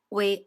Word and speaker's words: は: Our first grammar point is N1 wa N2 des.